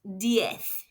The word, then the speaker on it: diez: D if and finally 10 is d if spelled d i e zed and pronounced dth. The letter zed in Spanish makes a th sound.